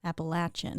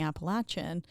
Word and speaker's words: Appalachian: grew up appalachi Appalachia Appalachian Appalachian so Appalachian is how they say it here uhhuh but in the Appalachian Mountains would say Appalachian Appalachian so but Appalachian